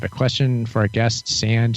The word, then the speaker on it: Sand: Oh, my name is Sand, S-A-N-D, like on the beach.